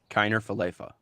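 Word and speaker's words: Kiner-Falefa: Kiner Falefa. Yeah, it's fine. There we go. Good pronunciation.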